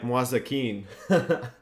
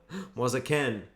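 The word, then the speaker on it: Moise Kean: I was reading it like Mwazakin. Mwazaken.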